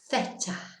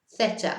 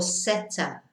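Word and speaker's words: zeta: And the last letter, la última letra, theta. Theta again. Theta or seta. Yeah, if you don't want to do the lisp, it's okay to do seta.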